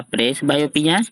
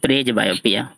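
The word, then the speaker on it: presbyopia: पर्ज बाइपिया पढ़ेंगे, या प्रेस बाइपिया हाँ, या प्रेस बायोपिया या प्रेज बायोपिया, दोनों पर पढ़ सकते।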